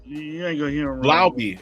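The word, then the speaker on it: Laube: Lauby. It's Lauby. It's Lauby. Not no. Lauby. Like Lau B. Fucking Lobby, motherfucker. It is what I call it. Not Lobby. It's not Luby. It's Lauby. Lauby.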